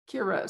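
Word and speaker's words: Ciara: Kira. So Kira. It's C-I-A-R-A, but the C is pronounced, so it's not Italian. Yeah. It's Irish.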